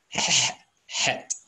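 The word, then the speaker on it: חית: That letter should be pronounced as Het.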